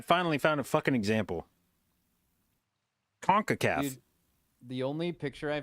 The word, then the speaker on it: CONCACAF: You don't pronounce it Oh, SONCACAF.